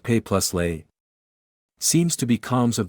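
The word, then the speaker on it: Pelé: Sacrifice symbolism and for him to tie into Pele gives us a direction. He was the youngest ever… and that name of his? Pronounced Pay + Lay?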